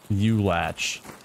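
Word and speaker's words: Ulach: Fucking shout out, U-Latch. U-Latch? There's no way you just said that. That's how you pronounce it. No, there's no way. U-Latch, bro? That's the proper pronunciation. U-Latch.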